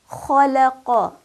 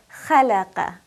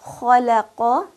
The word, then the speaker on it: خلق: Notice that I did not pronounce it as خلق. That would be incorrect because I'm giving it a light quality instead of the heavy quality that kha has. So خلق, خالق, ختم, خرج, خاشية.